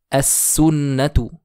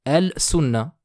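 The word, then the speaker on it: السنة: S'ensuit le mot as-sunnatu. Je ne dirai pas al-sunna, plutôt as-sunna.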